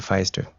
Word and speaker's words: Feister: And he played Dr. Feister. They kept mispronouncing it Fist, but yeah.